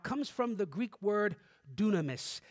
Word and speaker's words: dunamis: he's talking about comes from the greek word dunamis it's spelled d-y-n-a-m-i-s spelled kind of like dynamic because